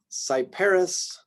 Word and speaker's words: Cyperus: Y, Yucca, Cyperus, Cypripedium. So again, another pair of words that have the same CY with different pronunciations.